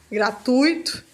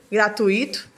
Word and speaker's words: gratuito: para ser gratuito n gratuito é uma uma palavra que tem de T duas vogais ficam na mesma ca e não gratuito e o Nobel que